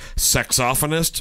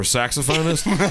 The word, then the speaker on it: saxophonist: heard two interesting pronunciations one was sexophonist for saxophonist and the other